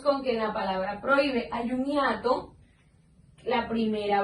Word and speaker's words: prohíbe: a nuestra pronunciación y la H es una H muda. Entonces quedamos con que en la palabra prohíbe hay un hiato.